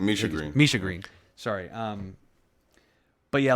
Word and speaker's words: Misha Green: Is it pronounced? Misha Green. Is it Misha Green or Mia Green? Misha Green.